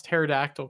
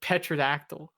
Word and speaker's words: pterodactyl: I always called it like petrodactyl because there's a freaking P in the front of it. Why you put a P if you're not going to pronounce the P?